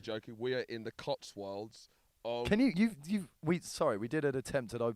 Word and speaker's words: Cotswold: Can we did an attempt at opening this, and can you say the word Cotswold? Cotswold. Just try say it in a sentence. It's like Cotswold, but it's a wold.